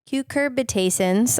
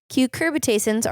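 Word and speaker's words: cucurbitacins: all of you okay so cucurbitations I'm making that up are terpenes not the class of molecules how to say it cucurbitasins are terpenes with steroidal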